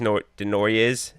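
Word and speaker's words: Desnoyers: It's pronounced like just Denoyers, and I didn't want to mess that up.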